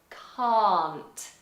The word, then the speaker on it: can't: In America you say Can't. can't. Can't. So you have to be very careful with this word. If you mispronounce it, it can sound like a very naughty word. Ooh. Okay, so it's still long in American, it's just forward placed Can't.